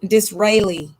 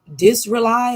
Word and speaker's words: Disraeli: there was a british government leader named benjamin disraeli d like door i s like sock r-a-e-l-i dis-rely or disraeli or whichever thing is silent um